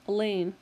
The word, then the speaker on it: Alain: even in the lunchroom Alain rhymes with pain while Waldo staring at